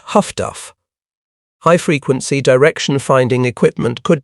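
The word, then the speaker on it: HF/DF: The other technological revolution arrived in an unassuming black box called HFDF, which sailors pronounced Huffduff.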